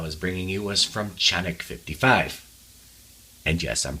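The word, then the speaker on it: Canik: This one happens to be from Sarsilmaz, whereas the last one I was bringing you was from Chanik 55. And yes, I'm pronouncing that correctly because I was corrected by a Turk.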